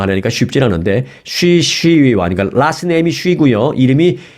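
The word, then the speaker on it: 徐熙媛: 쉬 시위완. 이거 한국 발음하면은 서희원입니다. 그러니까 제가 중국말을 잘 못해서 중국 발음으로 하려니까 쉽지 않은데 쉬 시위완.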